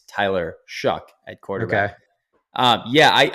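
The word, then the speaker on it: Shough: I know it's not it's not spelled like that at all but it's like shucking corn even though it looks like it's you know sh and then cough um it's Tyler shuck at quarterback um yeah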